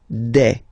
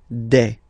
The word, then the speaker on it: des: Okay, and then the plural form, des. Alright, here S, you pronounce it like e. Okay, un, une, des.